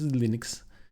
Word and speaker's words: Linux: is linus tovalds and i pronounce linux linux and that solves all the arguments about how it should